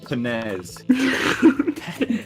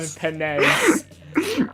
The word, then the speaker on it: Penez: But it's pronounced Penez. I got Penez. Penez. Penez. It's like It's Ness it's from it's Smash. it's penis, but with a Z.